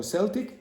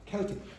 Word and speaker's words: Celtic: Now in Glasgow they have a football team called Glasgow Celtic and in uh the United States they have a basketball team called the Boston Celtics but the pronunciation in most uh context like historical context is Celtic. You couldn't guess that. You can't guess it. Okay? You just have to be familiar with the context.